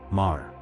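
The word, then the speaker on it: Meagher: Mar. In America, you'll commonly hear me, like the word meager. But in Irish usage, this name is famously pronounced like Mar. Yes. March like Mars without the s.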